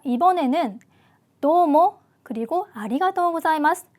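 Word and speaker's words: ありがとうございます: 아리가토 사이마스라고 합니다 자 아리가토 사이마스 자 발음 주의를 하실 필요가 있죠 자 한국어로 자로 표기가 되어 있기는 하지만 자보다는 영어로 z a z 발음이 들어가는게 조금 더 일본어 발음에 가깝다 이렇게 기억을 하시고 발음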